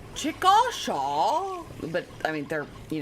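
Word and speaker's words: Chickasha: Although I'm from Oklahoma, so I really have no room to talk because we have places called Chicochet, which are which if you pronounce it like phonetically, it's Chikasha.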